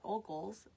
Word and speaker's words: Ogles: was I saying Heather found that it is pronounced Mr oal o g l e s and he is